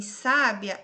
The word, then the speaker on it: sábia: Agora, em sábia, a separação é sa. Aí eu tenho um ditongo aqui, ó, sábia. Isso é um B, tá? A penúltima sílaba é a tônica, então é paroxítona.